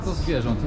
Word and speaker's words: zwierząt: Kultura do zwierząt.